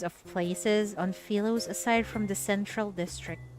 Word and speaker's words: Philos: Paper is rare on Philos, but on that planet, it's an everyday necessity. Oh, the pronunciation is actually Philos, not Philos.